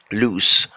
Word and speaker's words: loose: make something less tight that's loose it has a C sound at the end of it okay so finally let's